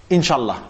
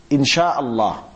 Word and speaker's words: Insha'Allah: Or some people say, Inshallah, Inshallah. That's actually wrong. It should be, Insha'Allah, Insha'Allah.